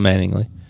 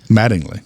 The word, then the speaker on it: Mattingly: mispronouncing there okay okay it's not meaning it's not manningly Mattingly maddings Mattingly I like to say manningly